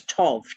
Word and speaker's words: tau: there are no vowels the original letter that looks like a tease is not tet t-e-t-h it is toff t-a-u and tau pronounced